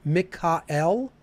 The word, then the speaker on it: Michael: so the archangels are michael or if we're pronouncing it the ancient way mikka l right then raphael gabriel